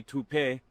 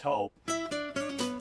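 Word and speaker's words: Toop: No, I'm pretty sure it's Tope Insurance. Maybe Toupee. Could be Toupee. Yeah, I don't know. Or Taupe Insurance? Maybe? I don't think so. Say it right. That's T-O-O-P. That's Taupe. Oh, it's Taupe.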